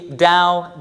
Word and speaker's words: Tao: to be clear da is pronounced as if it had an initial D consonant even though it is spelled with a t and Jing is pronounced